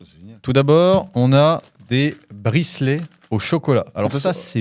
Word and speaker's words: bricelet: Alors, tout d'abord, on a des bricelets au chocolat. Alors ça, c'est une dinguerie. Bricelet, je l'ai bien dit. Tu prononces très bien.